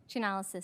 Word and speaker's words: Chainalysis: Our final witness is Jackie Burns-Coven, Head of Cyber Threat Intelligence at Chainalysis, or how do you pronounce that? Chainalysis, Senator.